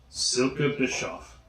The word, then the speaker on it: Silke Bischoff: Silke Bischoff.